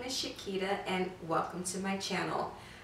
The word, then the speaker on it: Shquita: It's spelled with S-H-Q-U-I-T-A, almost like Shquita banana, but Shquita, that's what I always tell everybody.